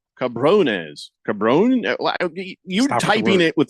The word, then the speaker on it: cabrones: Lakers and Viva Mexico cabon not cabon cabrones cabon you typing it